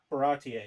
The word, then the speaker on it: Baratie: Uh yeah, Baratier. Barattier.